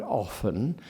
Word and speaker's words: often: important that daily it pronounces the word often as though it did not have a T in it and that's a very